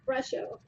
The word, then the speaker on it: Brusho: So they're Color Craft Brusho. And color is spelled COLOUR, craft, one word, brusho. It's brush with an O at the end.